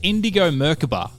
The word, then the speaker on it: Indigo Merkaba: couple of goes to get around your name indigo merkaba am i right yeah you got it first